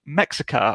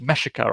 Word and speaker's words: Mexica: another older game called mexica or meshika i think it's just supposed to be pronounced um and the particular